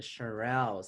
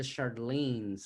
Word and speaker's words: Shirelles: I R R E the Shirelles. So see, I was saying the Charlene's.